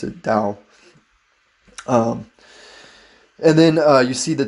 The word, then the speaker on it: Dao: once you see it with a key you pronounce it Dao and then you see the Taiji symbol which